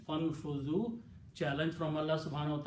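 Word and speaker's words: فانفذوا: So when you combine fa with that, so or then you don't pronounce this alif here. Fanfuzu. Combine fa with the noon. Fanfuzu.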